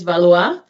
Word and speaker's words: Valois: So the pronunciation is Valois.